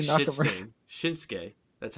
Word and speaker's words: Shinsuke: Shinsuke. That's how you pronounce it.